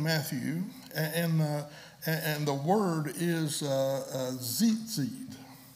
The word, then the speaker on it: tzitzit: The word fringe, same word as hem in Matthew, and the word is tzitzit. It's spelled T-Z-I-T-Z-I-T, tzitzit.